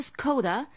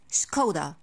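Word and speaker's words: Škoda: This brand is a kinda shock for me, because we do not pronounce the S like an S. I say ch sound. So this is not a Skoda, this is Skoda.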